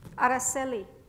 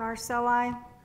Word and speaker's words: Araceli: Her real name is Araceli, but the teachers always mispronounce it, Araceli and Arceli.